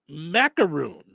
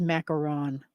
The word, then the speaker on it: macaron: right um all right macaroon it's not it's macaron it is macaron it is yeah I've